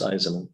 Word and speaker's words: Eisman: It's 3 syllables, Eisman.